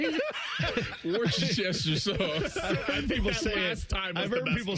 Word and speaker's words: Worcestershire: Is it Worcester sauce? Worcestershire sauce. I can't say it. Worcestershire sauce. I've heard people say it. I've heard people say it. I always say Worcestershire.